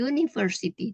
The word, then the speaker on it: university: dibandingkan unit jadi unit contoh lainnya adalah kata University University ya jadi ketika pengucapan menemukan Universitas tapi University tulisannya u cara membacanya y jika menggunakan kalimat maka